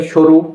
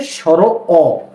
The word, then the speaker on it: স্বর অ: এটাকে অনেকে বলে সরু, না এটা হচ্ছে স্বর অ।